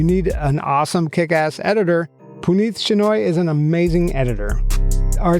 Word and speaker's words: Puneeth Shenoy: which, by the way, I've been pronouncing Puneeth's name wrong this entire time, and he has failed to tell me that, and we've been working together for years. So it's Puneeth Shenoy with the Podcast Pundits.